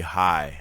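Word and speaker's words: hie: old style well the the old word for rushed is hide h-i-e well rush would be high like to hurry what is this an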